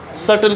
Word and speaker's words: subtle: सटल की spelling भी SUBTLE, बी is silent.